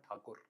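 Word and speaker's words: ঠাকুর: So it's not Rabindranath Tagore, it's Rabindranath Thakur.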